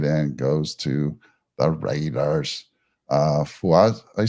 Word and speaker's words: Fuaga: Fuaja, I say his name, Fuaja? Felice Fuaga.